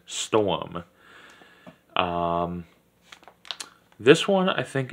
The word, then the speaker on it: Sturm: one we have is the Russian Sturm or what I like to pronounce as storm um this one I